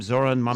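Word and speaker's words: Zohran Mamdani: Zoran Mamdani.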